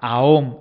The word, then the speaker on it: aum: Y el éter, el mantram aum, se escribe aum, pero se pronuncia aom.